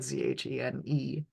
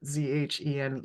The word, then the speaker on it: Zhen: But I'm also, so part of why I spell it Zhene is because in Korean writing, the Z is a J sound, but it also is how you would spell, it's related to.